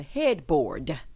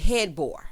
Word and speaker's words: headboard: be listening to this i pronounce it with the d because it's spelled with a d okay just so we're